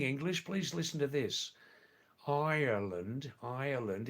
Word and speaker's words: Ireland: Ireland is the correct way to say the where Stock Guruji's living, right?